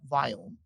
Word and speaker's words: Viome: So when I started this company called Viome that we're going to talk about, by the way, this is really interesting.